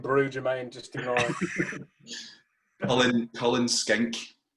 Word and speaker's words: Cullen Skink: Cullen Skink. Cullen Skink.